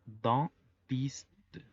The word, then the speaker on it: dentiste: La combinación de EN hace que se pronuncie como una A gangosa. En. Es por ello que la pronunciación es dentiste.